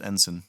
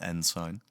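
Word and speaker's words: ensign: through nine is ensen that's pronounced ensen out there for those curious not n sign 10 is a warrant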